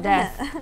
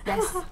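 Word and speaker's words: です: No, it's not death. It's desu. Desu, D-E-S-U, yeah.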